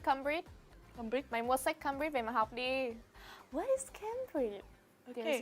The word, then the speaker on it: Cambridge: is quite difficult because it looks like a but um came came then we have a difficult consonant combination over here right and and over here yeah right all together Cambridge Cambridge Cambridge Cambridge right